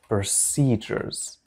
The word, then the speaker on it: procedures: تدابير هي procedures. procedures. لاحظوا بأن هذه الـ هنا تنطق ج.